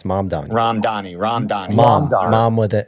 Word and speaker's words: Mamdani: Ramadani. I couldn't remember. Mamdani. It's Mamdani.